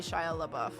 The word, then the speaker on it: Shia LaBeouf: Mime to be Shia LaBeouf. Shia LaBeouf. It's 4, right? I know Shia feels like one and it might be considered one syllable, but it's got a weird rhythm to it.